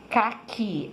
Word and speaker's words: caqui: Caqui, a sílaba forte é o qui, e no batom, a sílaba forte é o tom, tá?